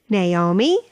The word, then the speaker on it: Naomi: words have three syllables n a o m i na o me Naomi Naomi Naomi a n o t